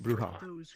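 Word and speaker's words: Brujah: Or is it Bruja? Sorry. Bruja. It's pronounced Bruja.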